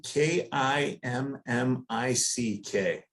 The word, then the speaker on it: Kmiec: So, if it were spelled phonetically, it would be K I M M I C K. Kimmick.